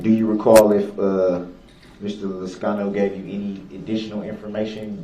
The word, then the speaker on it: Liscano: How do you say it, Liscano?